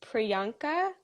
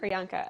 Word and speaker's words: Priyanka: to confirm um do is your name pronounced priyanka yes oh perfect excellent priyanka okay awesome yeah okay